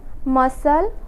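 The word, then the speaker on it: muscle: जैसे acknowledged, acquire, या फिर एस के बाद सी आया हुआ है तो यहाँ पे भी सी साइलेंट होगा। Science, scene, मसल, absence.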